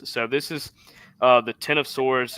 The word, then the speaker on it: X of Swords: it looking nice so this is uh the Ten of Swords it's X of Swords but it's pronounced ten of Swords creation number one um